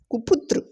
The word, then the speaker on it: कृपा: उसके बाद आएगा कुशल, फिर कुपुत्र, कुपुत्र। उसके बाद आएगा कूल और कूदा, कूल और कूदा। उसके बाद है कृपा, री की मात्रा में कृपा, री का उच्चारण आएगा कृपा और कृष्ण, कृष्ण।